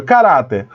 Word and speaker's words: caráter: que ser na penúltima veja caráter caráter o a sílaba tônica é ra mas olha Onde foi